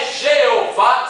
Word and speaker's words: Jeová: Bom, a pronúncia está certa, é Jeová, sim, está certa, é Jeová.